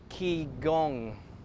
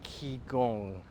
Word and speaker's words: qigong: I'm going to incorporate a little qigong is how they say it, qigong.